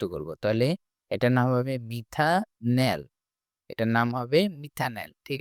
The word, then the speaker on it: মিথানল: কিন্তু উচ্চারণটা আসবে নল। তাহলে এটার নাম হবে মিথা নল।